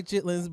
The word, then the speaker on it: chitterlings: I was like, do you say chitterlings or chitlins? I say chitlins, but then the way it's spelled, but the way it's spelled like chitterlings.